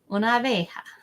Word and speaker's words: una abeja: Una abeja. Una abeja. So what we do is we kind of squish the A's together. Una abeja. That's why there's not an extra syllable down there.